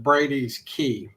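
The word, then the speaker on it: Brady's Cay: Brady's he calls it it's SP spelled c ay but he pronounces it Brady's key even though it's spell Cy yeah and I think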